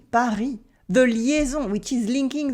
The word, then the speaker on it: Paris: For instance, the S in Paris, Paris, Paris.